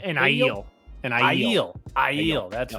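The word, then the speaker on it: Aiel: eel corpse uh is that how do you pronounce it an ideal and i heal i heal that's right and i yield corpse so the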